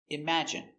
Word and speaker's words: imagine: Pronunciation, imagine. i m im a ima j j strong sound j j j image i imagine n imagine Imagine, stress on the second syllable, imagine.